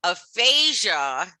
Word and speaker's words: aphasia: in medical terminology okay aphasia is pronounced the same way as a phage okay you see there's